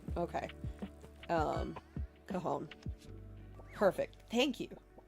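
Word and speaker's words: Cajón: Cajon. So the J is the H sound. Okay. Cajon.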